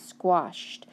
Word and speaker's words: squashed: Squash, and then add the ED, squashed. Now, do I say squashed? No, I say squashed. It makes the t sound at the end. Remember, that ED can make 3 different sounds.